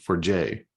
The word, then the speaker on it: Forget: got some interesting cities um they say it's pronounced for for Jay but it's spelled forget and and you have